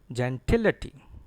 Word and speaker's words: gentility: It is gentility. Gentility. Stress is on TIL.